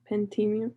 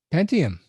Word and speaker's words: Pentium: Um, Arduino Uno or Intel preentium. Oh, sorry, I don't know how to pronounce it. Pentium.